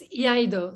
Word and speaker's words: Iaido: How do you pronounce it? Iaido? It's Iaido.